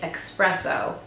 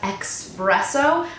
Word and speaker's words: espresso: it's in the shade Espresso. And no, I am not one of the people who pronounce espresso as expresso, but that's literally how it is spelled, E-X-presso.